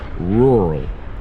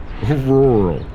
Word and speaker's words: rural: and that word is rural rural again some of these are hard for me to pronounce as well rural rural rural you almost like swallow all the sounds r-u-r-a-l practice saying it slowly rural rural that's tough